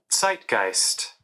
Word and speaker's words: zeitgeist: indeed it is zeitgeist how do you properly pronounce that come on dictionary let's let's see site-geist okay it was dictionary man this time they surprised me zeitgeist Z II I t GE ist or if